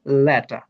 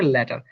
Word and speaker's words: letter: British English অনুযায়ী এটি হবে ল্যাটা, আর উচ্চারণ হবে না। কিন্তু বাংলাদেশের ইংলিশ অনুযায়ী এটা হবে ল্যাটার। আজকে থেকে যেহেতু ব্রিটিশ শিখছি সেহেতু আমরা বলবো ল্যাটা।